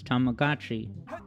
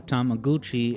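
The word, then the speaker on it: Tamagotchi: says this is Sonic's tamagachi or tamaguchi as everyone incorrectly pronounced it when it was just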